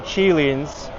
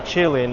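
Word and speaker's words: qilin: This is a mythical creature, the Chilean or the Kirin. I think Chilean is more of the Chinese pronunciation. Kirin, maybe from romanticized pronunciation.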